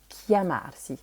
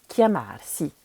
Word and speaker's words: chiamarsi: Donc le premier verbe en général qu'on apprend, c'est le verbe s'appeler, qui se dit chiamarsi. Attention, le CH, ça fait bien que.